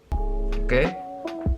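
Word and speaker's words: を: Nah, tapi nanti teman-teman di grammar akan belajar kalau ini dibacanya o, bukan wo, tapi ditulisnya seperti ini.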